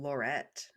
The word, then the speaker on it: Lorette: and her name being Lorette uh everything really wanted to correct it to Lauren yep Laurent Laurent because that's how it's basically Laurent without the N is how it's spelled it's like lorett oh okay yeah yeah